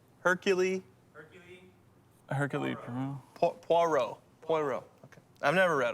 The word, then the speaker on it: Poirot: do you say that name hercule hercule hercules poirot poirot okay i've never read them never read